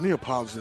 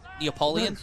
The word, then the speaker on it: Neapolitan: Oh, Neapolitan is so good. You know, I didn't know that how to pronounce that for the longest. I call it I used to call it Neapoleon.